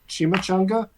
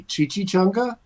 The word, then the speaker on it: chimichanga: when I first moved to Tucson yeah I mispronounced chimichanga and I called it a Chichi changa the bartender laughed at me because chichis is